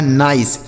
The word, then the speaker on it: nice: आगे NICE, तो N से पढ़ेंगे आपका 9, आई का उच्चारण बच्चों आई होगा, और CE से पढ़ेंगे 100, यह लिखा नाइस। किसी भी शब्द के लास्ट में ही रहेगा तो उसे हम नहीं पढ़ेंगे।